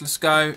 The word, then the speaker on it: Lescot: I assume it's pronounced Lescot.